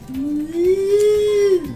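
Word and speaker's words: mu: And it actually corresponds to our sound M, and it's called moo. No, really, moo. I know. Totally. But it sounds like moo.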